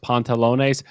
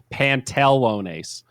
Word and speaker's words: pantalones: on an exam because i pronounced pontalone's pantelonace i did an e instead of an a in the middle and i got a minus two for that it's pontalones two a's wow don't get it